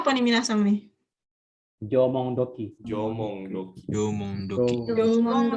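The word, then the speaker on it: 縄文土器: Bacanya apa nih minasang nih? Jomong doki.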